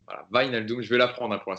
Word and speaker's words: Wijnaldum: C'est Van Naldum, c'est ça on prononce Wijnaldum. Wijnaldum. Voilà, Wijnaldum.